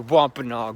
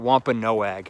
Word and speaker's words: Wampanoag: We're walking in the woods on our way to the Wampanoag village. Or is it Wampanoag? I've heard it pronounced both ways, but I think Wampanoag sounds better.